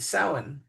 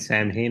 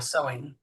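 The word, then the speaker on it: Samhain: And by the way, um the Morgan is also associated with sin or Halloween this time of year.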